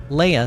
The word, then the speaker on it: Leia: yeah princess princess Le Leia said I I was I thought about maybe saying it wrong on purpose like Princess Leah says it like Princess